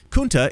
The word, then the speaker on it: Kunta: LeVar Burton himself, the actor who played Kunta Kinte, responded by tweeting, "Dear Keith Olbermann, Kunta is pronounced with the long U as in unity, not the short U as in cup.